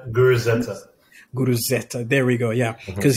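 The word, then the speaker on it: Guruzeta: Guru Zeta.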